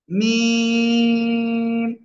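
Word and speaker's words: ميم: মিম অক্ষরটা লিখতে হবে মিম অক্ষর কোন জায়গা থেকে উচ্চারণ হয় বলেছি দুই ঠোঁটের শুকনো জায়গা থেকে কি বললাম দুই ঠোঁটের শুকনো জায়গা থেকে মিম অক্ষরটা উচ্চারণ হবে সবাই দ্রুত লিখে ফেলেন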